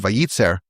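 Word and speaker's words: וייצר: And the word vayitser it's actually it's actually pronounced the same way as it would be if it had only one letter yud.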